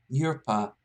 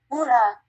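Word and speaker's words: ура: Yurpa. Sorry to anyone else watching, by the way. I'm actually now very curious. How do you pronounce it? Ura.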